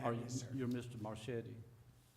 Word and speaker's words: Marchetti: It's Marquetti. I'm sorry, It's Marchetti. okay. I'm used to it. It's got a C, it's got a C in it. It does. Okay. CH.